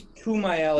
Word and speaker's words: Kumail: You know, I think it's Kumail is the actor's name, correct? Correct, yep. I believe it's how it's pronounced.